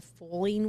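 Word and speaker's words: Fowling: We went to the foaling warehouse. The what? Foaling. And I can't think of a worse possible sports combination. Foaling. But football and bowling combined. Oh, see, I would pronounce it fouling.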